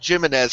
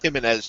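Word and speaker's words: Jiménez: means, but I think when there's a J, it's kind of a soft J, like jogging, you know what I'm saying? So I don't think it's Jimenez, I think it's pronounced Jimenez, just as, just to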